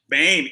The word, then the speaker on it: Boehm: But Gage Boehm, is that right? Gage Boehm? Bame. Oh, that's even better.